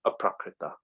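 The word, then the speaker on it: aprākṛta: And then, because I'm racing against this clock ending the meeting in 1.5 minutes, we have aprakrita. Actually, I think there should be a long A in there.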